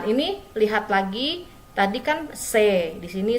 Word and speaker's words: c'est: Ini C dibacanya C ya, bukan chess ya, bukan chess, tapi C. C'est ton sac.